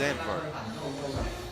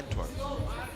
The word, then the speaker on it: Antwerp: Somebody told me the way you pronounce it is Anne. In English, you would say Antworp.